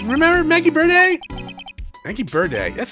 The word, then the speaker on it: Byrde: around tonight yeah or is it just bird maggie birdy you know what yeah it's just bert not birdie not for